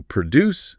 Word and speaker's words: produce: So, produce the noun for the fruits and veggies. Stress on the first syllable, but then produce the verb, like to produce a report.